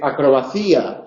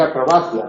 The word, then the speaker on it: acrobacia: No se dice acrobacía, se dice acrobacia, no se dice expedito, se dice expedito, mi padre decía expedito.